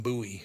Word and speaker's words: Bowie: they sure do yep always right I've always pronounced it Bowie no it's Jim buoy buoy but the knife is too buoy knife